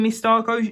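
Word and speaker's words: Misako: Really, it should have come with Miss Starco. Yeah, that's how you pronounce her name.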